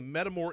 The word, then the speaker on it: Metamor: That's right, and we're called Metamore. So let me spell that, METAMOR, Metamore. Now, when you think about Metamore, think about two things. Think about metabolic and think about metamorphosis, okay?